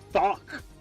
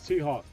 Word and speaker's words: T-Hawk: Thok. No, his name's T-Hawk.